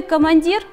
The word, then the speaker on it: командир: словарное слово командир условий командир ударение падает на третий слог слова поэтому гласные в